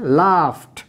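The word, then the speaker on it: laughed: এরপরের শব্দটি লাফ, লাস্টে ফ সাউন্ড, ফ সাউন্ড, সুতরাং ইডি যুক্ত করার ফলে উচ্চারণ হচ্ছে লাফট।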